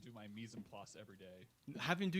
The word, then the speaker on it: mise en place: Mise en place would be how you pronounce it. Mise en place, but okay, everything in its place.